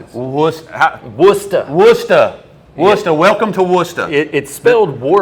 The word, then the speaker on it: Worcester: Woos- Wooster. Wooster. Wooster. Welcome to Wooster. It It's spelled Worcester, but it's Wooster.